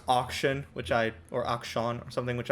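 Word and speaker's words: Akshan: I thought it was pronounced Ashcan. No, it's not like AKS. It's Action.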